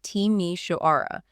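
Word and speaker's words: Timișoara: which city is this this is timi wara pronounced teimi shaara it earned the nickname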